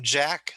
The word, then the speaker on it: Jack: okay so so like when you say my name jack that's voiced and if you say cheese ch thatch is unvoiced okay yeah j jack ch cheese so voiced and unvoiced okay so you've been